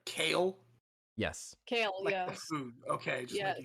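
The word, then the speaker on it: Kayle: leaf would be looking at k is it kale uh yeah k-a-y-l-e moonstone so okay no no just make sure i'm pronouncing it correct kale yes kale yeah food okay sure we're just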